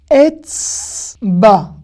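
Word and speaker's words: אצבע: Etzba. Pareil. Vous voyez ce que je veux dire ? Le A, il est rallongé ici.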